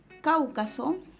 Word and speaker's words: Cáucaso: Cáucaso. Cáucaso se silabea cáucaso. La mayor fuerza de voz está en la antepenúltima sílaba, así que lleva el acento a la vocal abierta.